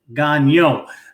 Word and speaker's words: Gagnon: then of course it's spelled Gagnon but it's pronounced Gonyo because we are a proud proud French people over here but anyway